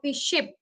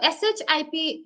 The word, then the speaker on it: ship: taken or understood differently so if I say ship okay and Sh double e p sheep okay can you see the difference between both these words there is spelling difference also and there is pronunciation difference also yeah so ship ship means